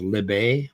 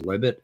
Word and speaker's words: Libet: talking about uh libit uh or you would pronounce it as libet but the right way to pronounce it is libit l-i-b-e-t uh anyway yeah it's a philosophical concept